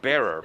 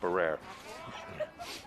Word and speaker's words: Bearer: um ben fassold uh that was connor bearer by the way not barrer and the field hockey